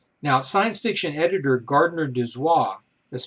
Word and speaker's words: Dozois: Now, science fiction editor Gardner Dozois, that's spelled D-O-Z-O-I-S, popularized the term by using it